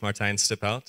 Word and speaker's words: Martijn Stiphout: that's my biggest Arts teaching people to say my name so very correctly said my name is Martin stipout and um on a